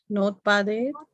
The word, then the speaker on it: notpadayet: Notpadayet, not one word, padayet, like that, split it like that. Notpadayet.